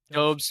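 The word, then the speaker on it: Dobeš: Yep, that's how you pronounce it. Dobes.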